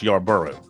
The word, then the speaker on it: Yarbrough: It's spelled Yarbrough, but he says it's pronounced Yarborough.